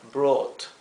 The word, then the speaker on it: brought: Fíjense que brought en inglés se pronuncia como una O larga, brought. Por eso lo he escrito aquí la fonética en verde, B-R-O-O-T, con una doble O, brought.